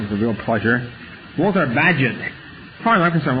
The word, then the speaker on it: Bagehot: His name is was spelled, typical English thing, was spelled, had no relation to the pronunciation. It was spelled B-A-G-E-H-O-T. Pronounced Bagehot.